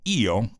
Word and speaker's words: io: existe un debate si esa frase era pronunciada como io que sería yo en italiano o como yo pero de todas maneras